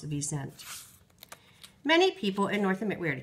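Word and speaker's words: wisent: Europe they are called V resent this is pronounced the V sent many people in North America tractors out on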